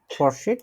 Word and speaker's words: Fortschritt: wirst du fortschritt machen। নতুন শব্দ উচ্চারণ দেখে নি কিভাবে বলতে হবে।